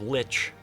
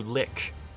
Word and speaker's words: lich: And the one that just like made my skin crawl, they changed the pronunciation of lich to lick.